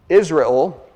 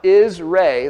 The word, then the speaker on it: Israel: It's pronounced Israel, that's a long A, and then L with a short E.